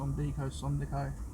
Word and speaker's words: Sondico: That's how you pronounce it. Sondico.